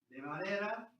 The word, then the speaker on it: de Valera: De Valera is a Spanish name.